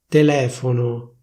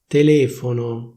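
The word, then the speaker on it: telefono: First, I'll tell you the standard pronunciation of a given word, and then I'll tell you how it's pronounced in Milan.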